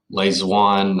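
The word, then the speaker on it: Lê Duẩn: And Le Duan, that's actually spelled with a D, not a Z, so D-U-A-N.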